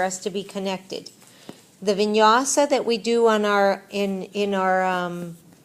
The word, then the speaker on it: vinyasa: What is vinyasa?